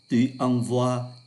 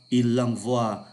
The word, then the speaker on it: envoie: lạ lạ, là bởi bốn vị trí này phát âm là oa, o với i là oa, trong khi hai vị trí là ngôi thứ nhất, ngôi thứ hai số nhiều là oai.